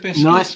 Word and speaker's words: Nice: nice nice biscuits pronounced niece who is here danny